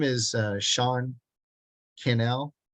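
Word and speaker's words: Cannell: name is uh Sean Canal it rhymes with uh Channel Sean Channel he lives in Las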